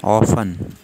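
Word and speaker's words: often: एच ओ डब्ल्यू हाउ ओ एफ टी ई एन ऑफन ऑफन इसमें T silent है कितनी दफा एच ओ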